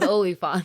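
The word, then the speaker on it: oliphaunt: also have elephants and Sam pronounce elephants very weirdly olifants they're called oliphon okay they're not elephants I was like man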